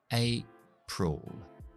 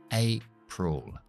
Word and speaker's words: April: Y abril empezamos con un diptongo, la A como el abecedario, que es A. Y como hemos acentuado ahí, vamos a dejar la otra sílaba en schwa. April. April.